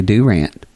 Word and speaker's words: Durant: From Durant, Oklahoma. Not Durant? We don't say Durant. We say Durant.